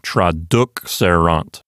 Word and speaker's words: traduxerant: There's nothing to make the penult into a long syllable. The penult does not contain a long vowel, and the penult is not a closed syllable. So the accent moves over to the antepenult, and it sounds like traduxerant.